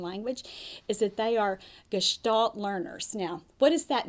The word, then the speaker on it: gestalt: when they're learning language is that they are gestalt learners now what does that mean if that's